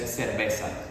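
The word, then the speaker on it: cerveza: would they would say in Spain they would even the the CE they would do as well but in Latin America again we just say seresa yes which is beer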